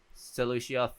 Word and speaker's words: Celosia: I don't think you can guys hear it, but because Celosia, that's how to say Celosia, Theurgal, and August Locuro.